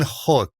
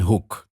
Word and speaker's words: Hoek: I'll have some free time with you guys, and it's Hoek. So, Hoek. Hoek. Ooh, like ooh. Ooh. Hoek. Hoek.